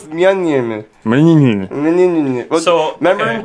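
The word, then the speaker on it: Mjölnir: No, it's Myeon. Well, So, remember okay. in Dark World when she can't pronounce it, Yeah. she just goes Meow, meow meow, meow meow, meow meow.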